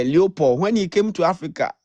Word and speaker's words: Leopold: Is it King Lopo or Leopard? I don't know how to pronounce his name. I used to call him. Yes. Leopold. Yeah, Leopold.